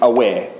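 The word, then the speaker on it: Awer: But I need to say it about Awa because Awa, pronounced correctly, is aware.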